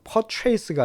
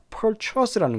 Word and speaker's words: purchase: go into effect 같은 표현도 알아주시고 발음 purchase가 아니라 purchase라는 것도 꼭 기억해 주시기 바랍니다.